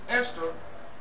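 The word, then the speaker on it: Ishtar: the festival called Easter ishar which is pronounced Esther was a day that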